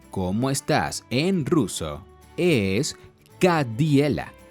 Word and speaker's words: как дела: En ruso, es Kadiela y se escribe así.